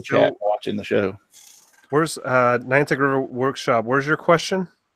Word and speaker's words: Niantic: Nitanic. Oh, sorry. Yeah, and they're done. No, that's Niantic because he's in Connecticut. That's Niantic.